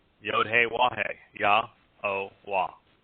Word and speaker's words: Yahowah: For those who are the first-time listeners, Yahowah's name is exceedingly easy to pronounce. It's comprised of four vowels, one of which is repeated, Yod, Hey, Wah, Hey. The Y is pronounced like the Y in English.